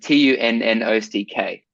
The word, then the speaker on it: Tunnock: TUNNOCK. TUNOOCK. Sorry, double N.